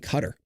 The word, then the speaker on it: Qatar: Why are you saying cutter? That's how you pronounce it, by the way.